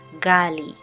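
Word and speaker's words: ghali: So when you have a combination of G and H, it will either it's supposed to give an R in French sound or a hard G. A hard G.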